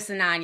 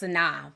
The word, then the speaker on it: Sanaa: I always call it Sanan, y'all. Y'all like it's Sanan. I've always called it Sanan just because of the way it's spelled. But I know it's Sanaa. But I've always called her Sanan.